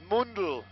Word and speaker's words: Mundel: If you guys want to follow me, Stu_Mundel, M-U-N-D-E-L, Mundel, but there's no dots over the U anymore.